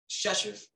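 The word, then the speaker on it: Rzeszów: That's Chechev.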